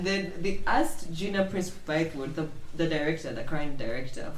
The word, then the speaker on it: Bythewood: There's no L. It's just Bythewood.